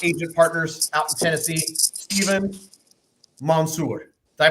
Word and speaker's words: Stephen Mansour: of our favorite agent Partners out in Tennessee stepen Monsour did I pronounce that correct you got it that's perfect